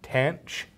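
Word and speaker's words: tanh: A lot of people, especially physics and engineering people, pronounce these as sanch, kosh, and tanch.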